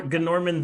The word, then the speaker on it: Gorman: campus and but his name was Gorman but you you had to pronounce the G like everything that like it was it was Gor Gorman the gnome and so we